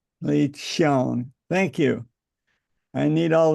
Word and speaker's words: Li Qiang: his name is pronounced Qiang because the Q in Chinese is pronounced CH. So it's Li Qiang. Li Qiang.